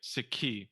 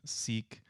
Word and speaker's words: Sikhi: you think did the the mispronunciation kind of the long e seek did that start with